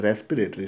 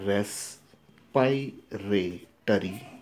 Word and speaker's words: respiratory: should pronounce this system so many times we pronounce this as a respiratory system but actually we should pronounce this as a rest by rail study system so this one is